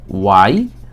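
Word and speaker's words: why: তো আমাদের আজকের পর থেকে যাতে উচ্চারণগুলো প্রবলেম না হয়, আমরা হোয়াই উচ্চারণ করব না, এখানে শুধু ওয়াই এর উচ্চারণটা করব। এটার উচ্চারণ হবে ওয়াই।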